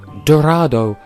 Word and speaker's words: Dorado: Animal Crossing new Leaf Dorado does not rhyme with motto learn to English you